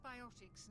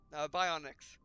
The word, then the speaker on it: biotics: And that is how you say it. Biotics. Bionics. There's no in there. Biotics. I just couldn't wrap my head around the O.